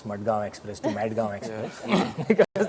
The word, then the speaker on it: Madgaon Express: thank you firstly I Lov the way you pronounce mgam Express to madg express because M yeah it was it was a